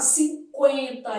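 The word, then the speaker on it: cinquenta: Por exemplo, quando eu pego a palavra por, o Uciado, mas quando eu pego 50, esse U é pronunciado. 50.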